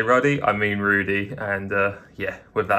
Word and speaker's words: Rudy: wrong the entire time it's Frank Rudy not ready my dyslexia this was